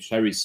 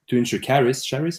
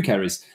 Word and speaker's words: Charis: So my point to answer Charis, how do you say it? Charis, sorry, Charis. To answer you, Charis, the fact that we